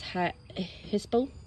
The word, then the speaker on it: hyssop: This one is hyssop. Sounds like hiccup.